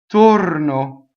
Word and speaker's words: torno: As is the next word, it's closed O. Torno. O. Torno.